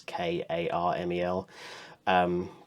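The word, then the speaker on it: Carmel: I think on Disney's website they recommend Caramel, not Caramel, and not Caramel, but pronounced the way Americans do. It's actual Caramel. I think it's Karmel.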